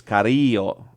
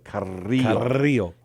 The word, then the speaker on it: Carrillo: It's Carrillo. You got to roll the R, too. Carrillo.